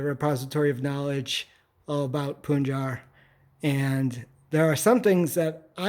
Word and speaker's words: Punjar: It's pronounced Punjar, right? Punjar, Not Punjar.